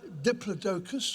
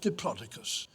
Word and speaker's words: Diplodocus: and here it is there are two ways of pronouncing its scientific name it's either Diplodocus or diplodicus either way it's a bit